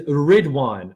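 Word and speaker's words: Ridhwan: His last name in Arabic, he writes these the words, and the closest in English pronunciation is Ridwan, R-I-D-H-Wan, like a magic wand, like the holly tree of Druids.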